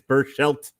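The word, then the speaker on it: Berchelt: and patrick's patrick's just absolutely irritated with my pronunciations he said it's burst shelt burst shelt god damn it that's okay you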